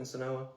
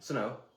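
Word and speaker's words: Senoia: Sonoa. Okay. Sonoa. Is that how you say it? Sonoa? I say it Sonoa or Sonoya. I never say Sonoy.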